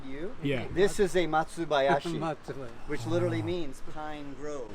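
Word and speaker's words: 松林: This is a Matsubayashi, which literally means pine grove or pine forest, right? Yep. Matsubayashi. So, which it can also be pronounced Shorin.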